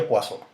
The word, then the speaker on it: Poisson: la distribución de pozo aunque se escribe poison es un nombre en francés entonces por eso se pronuncia guasón en este caso nos